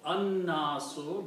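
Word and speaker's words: النَّاسُ: So when you will read these together, al and nasu, this will be pronounced an-nasu, because noon will change the sound of lam. Just like we say, Qul a'udhu bi rabbin nasi. An-nasi. So the pronunciation will be al-nasun combined will be an-nasu.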